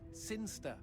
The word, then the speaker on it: Sinchester: But Elliot Thomas was still stuck down on Earth in the boring town of Sinchester. Sinster. What? It's pronounced Sinster.